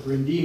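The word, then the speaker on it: Bryn Du: I'm the executive director of the Brindue Mansion, or as many of the Welsh in this part of the country call it, the Brindee Mansion. Reprimanded every now and then for saying it wrong.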